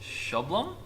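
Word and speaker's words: Sjoblom: about okay see it it's it's spelled SJ o BL o M like a straw um but it's pronounced Sholem or something like that anyway okay no it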